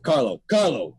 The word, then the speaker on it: Carlo: Like Carlo, Carlos, Carlo. It's like mispronounce his name. Not Carlos, it's Carlo. Whatever.